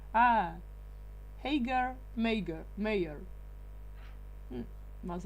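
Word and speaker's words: Haigha: Oh, Huiga. Not the last one. He promised it so as to rhyme with mayor. Ah, Hagar, mayor.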